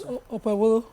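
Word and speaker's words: Okpebholo: I'm wondering why people call it Bolo, because there's a H, there's an H after it, and that H silences the, it makes it a bit. So what's the correct? How do you say? It's Okpebolo.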